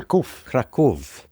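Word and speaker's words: Kraków: I don't know how Kov. Thank you. That was good. And the reason Machek is correcting my pronunciation is because Machek is actually from Poland.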